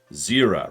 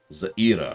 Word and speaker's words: Zira: pronounce her name, and they do say Zira rather than Zaira, which is how that normally would be pronounced.